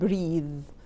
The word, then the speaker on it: breathe: طبعا اخرها اي وبتكون long vowel فبقول breathe.